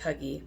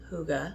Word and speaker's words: Hygge: Right now for Christmas, it is in a combo with this Hygge oil, spelled like Huggy, but it's Hygge, they've told us.